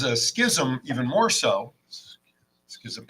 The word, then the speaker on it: schism: Schism even more so Schism it's still only two syllables but it's got a lot of s's and H's in it what the Schism like